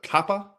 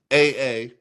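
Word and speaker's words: Kapaʻa: A city called, and I'm not sure if I'm pronouncing this right, but Kappa. It's Kapaa. Sometimes actually spelled Kapa apostrophe A.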